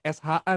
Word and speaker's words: SHA: Dibacanya SHA nih Kak Dini ya, bukan Iya, SA.